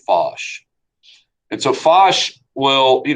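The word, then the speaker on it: Foch: collaborating with uh is Marshall fosh that's how you pronounce that f-o-c-h Marshall fosh and so fosh will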